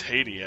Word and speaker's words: Heidi: Heidi, wait up, Heidi. Actually, it's Haiti, actually. I think is how they actually pronounce her name.